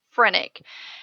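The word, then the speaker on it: phrenic: I want you to be familiar with is frenic and it is spelled p HR e n n i that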